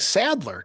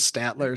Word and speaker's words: Sadler: This will be a total side note how a name like Sadler can be so easily mispronounced by people as Statler.